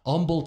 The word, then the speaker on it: Humble: Shout out Humble, Texas. Don't pronounce the first H.